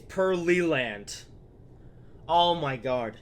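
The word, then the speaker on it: Pearland: that yes all right Perry land or wait it's pearly land oh my God it's huh it's pearly land not Perry leg please tell me the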